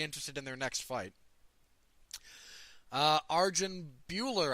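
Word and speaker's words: Arjan Bhullar: in their next fight Arjun Bueller I think is how he wants that pronounced defeated Marcelo goal being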